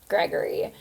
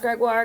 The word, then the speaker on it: Gregoire: so which it's like any person who even knew a little French would know that it was pronounced Gregoire cuz it's oh I